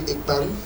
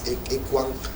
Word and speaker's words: Ekpan: We are here to talk about not only Ekpan, which is erroneously pronounced by non-Balondos as Ekwang, but today we are here to set the record straight.